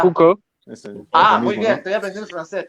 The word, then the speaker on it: Foucault: Pronuncia... Foucault.